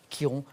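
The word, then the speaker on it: Chiron: chose Jean-Louis c'est bien c'est Kiron C i r o n ça se prononce effectivement Kiron c'est ça que vous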